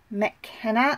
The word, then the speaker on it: McKenna: Fram was played by Wendy McKenna I believe it's how you say her last name Arthur Chaney who was